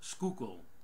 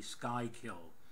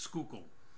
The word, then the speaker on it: Schuylkill: look on a map it's Schuylkill not the sky killed explain it to Schuylkill